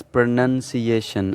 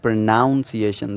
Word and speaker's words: pronunciation: The first word is pronunciation. As you can see, it is not pronunciation.